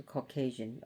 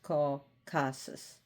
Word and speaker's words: Caucasus: I almost said the Caucasian. It's called Ca Caucases.